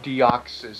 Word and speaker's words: Deoxys: It rhymes with osmosis. Deoxys. Deoxys. Not anti-deoxysins, but it is Deoxys.